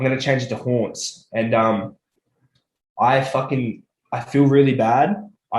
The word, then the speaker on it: Hauntz: But yeah, Haunts, it sounds the same as Taunts, but it is spelled pretty different.